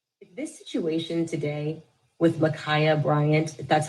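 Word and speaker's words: Ma'Khia: call it fate this situation today with micaiah bryant that's how you say her name mikaya bryant the 16 year old who was in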